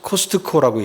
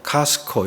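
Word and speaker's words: Costco: 못 알아듣는 경우가 있습니다 또 한국 사람들이 코스트 코라고 얘기하잖아요 음절로 코스트코 이게 분명하게 얘기하는데 거의 이제 이음절 식으로 카스코 이렇게 발음을 해야 이해를 하게 되는 거죠 그니까 내가 익숙한 옛날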